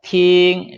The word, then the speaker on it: 听: 자, 팅. 자, 우리가 이제 발음을 이제 배웠으니까 발음 연습해 보는 거예요. 자, 일성이잖아요. 마, 솔, 탕, 뼈, 하오. 어떤 발음이든지 그 소음 높이로 하면 돼요.